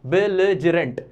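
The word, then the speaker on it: belligerent: देख लो इसका प्रोनाउंसिएशन, देख लो, बिलिजरेंट, ठीक है।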